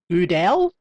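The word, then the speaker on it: Gödel: vowel produced by shaping the lips into an O while trying to say E. U, E, U, E, Goodell, similar to the U in burn or the I in bird.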